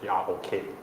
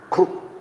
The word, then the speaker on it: Grok: Yes, that one the name is Grok, G-R-O-K. G-R-O-K. Yeah. Group I think it's pronounced Grok. Group or Grok. Grok.